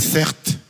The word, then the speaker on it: Certe: Je m'appelle Certes. C'est mon prénom. Ça s'écrit C-E-R-T-E.